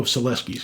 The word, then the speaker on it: Selewski: Oh, Selewski. I know, that's it. There's a W, that's how he pronounces it.